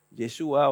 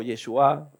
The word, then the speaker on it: Yeshua: Porque el que salvó su alma fue un judío llamado, en el nombre Jesús se pronuncia en hebreo Yeshua o Yeshua, ahí hay toda una discusión, esta gente que se enreda con eso, ¿eh?